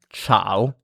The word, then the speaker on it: ciao: And in this case is pronounced like ch in English in English. So like for example church. So examples in Italian are china dinner and ciao.